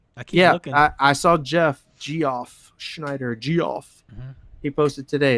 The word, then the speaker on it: Geoff: Is that how you say it, or is it Jeff? It's Jeff. All right.